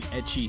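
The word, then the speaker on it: ecchi: if it's like an etchy themed sort of a sanen manga. Etchy is how the Japanese pronounce the English letter H.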